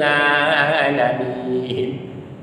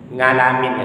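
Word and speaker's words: العالمين: Kadang-kadang ada orang mengucapkan huruf ain ini seperti huruf eng. Alhamdulillahi rabbil alamin. Ngalamin ya. Itu biasanya untuk Jawa-Jawa dulu. Lebih bagus ngalamin daripada tak ngalamin. Maksudnya tak sholat. Jadi membacanya amma, tidak boleh seperti bunyi hamzah. Dia harus pas sesuai bunyi ain.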